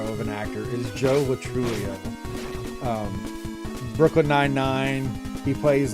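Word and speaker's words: Lo Truglio: Yeah, Joe Latrulio. It's spelled Joe Latruglio.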